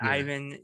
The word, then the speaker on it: Ivan: know yeah so i i usually go about in spanish and ivan here so yeah i think